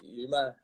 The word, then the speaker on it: UAMMA: Are you just saying UAMMA or UMA or Sounds a bit like your ma, but it's UMA? Yuma.